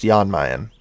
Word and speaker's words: Jan Mayen: Yeah, okay, apparently I'm being told it is pronounced Jan Mayen.